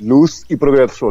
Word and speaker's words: Luz y Progreso: Yes, Luz y Progreso, Light and Progress.